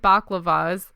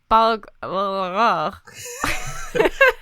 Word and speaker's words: balaclava: promote condom wearing, donned baklavas. How do you say that? I always Balaclavas. There's baklava and there's a balaclava.